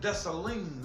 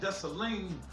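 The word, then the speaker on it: Dessalines: gene uh desoleen want to say it right because i'm not french jean desolene not thessalene was a revolutionary you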